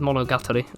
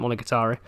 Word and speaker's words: Monogatari: i've seen the anime man pretty sure he pronounced it's monogatari i've always called it molokatari so british god it's been a little while